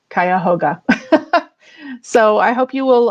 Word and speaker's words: Cuyahoga: public library facebook page cuyahoga is spelled i believe c u y a h o g a and it's also a lot of fun to say kaya hoga so i hope you